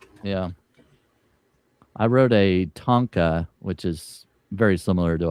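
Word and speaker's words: tanka: Yeah, I wrote a Tonka, which is very similar to a haiku. It's a tonka track.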